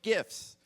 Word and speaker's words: GIF: it could not display gifts and I pronounced it with a hard G because that's what you